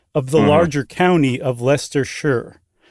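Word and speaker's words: Leicestershire: if you will of the larger county of Lester Shure.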